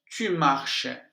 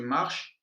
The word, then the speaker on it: marches: Tu marches, la même prononciation.